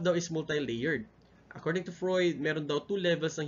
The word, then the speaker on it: Freud: So it's pronounced as Freud, ha?